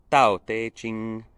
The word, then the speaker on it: Tao Te Ching: te ching and tantra sorry if my chinese pronunciation isn't perfect but it's something very close to tau teiching uh which is a